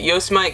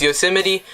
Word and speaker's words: Yosemite: a simony National Park some people might pronounce it yo smite cuz that's how it's spelled but that's okay it's Yosemite so you 70 National